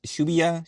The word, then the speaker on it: Shibuya: right how do you say this sh shya Shibuya sh Shibuya all right uh when kyota a